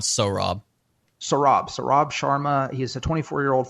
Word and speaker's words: Saurabh: It's pronounced Sohrab.